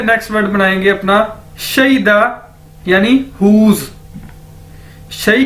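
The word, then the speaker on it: 谁的: तो इसी से हम शई से नेक्स्ट वर्ड बनाएंगे अपना शईदा, यानी हुज।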